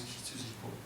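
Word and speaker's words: 羊子: Et donc, ça ne se prononce pas Yoko, ça se prononce Hitsujiko. Hitsuji, c'est le mouton, et Eko, c'est le petit mouton.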